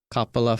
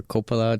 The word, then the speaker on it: Coppola: This is a Francis Coppola film, or Coppola, depending on how you pronounce it, right?